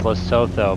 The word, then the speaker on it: Lesotho: Actually, if you guys tried flying in Lesotho, or it might be pronounced Lesotho, but Matakani airstrip is like Oh one of the yeah.